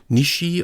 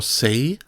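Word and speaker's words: 西: This one has the pronunciation Nishi or Sei and means west.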